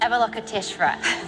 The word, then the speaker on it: Avalokiteshvara: Avalokiteshvara. Nice. So what is it? This is a bronze sculpture from Tibet from the 17th century, and it features a character from the Buddhist religion called Avalokiteshvara.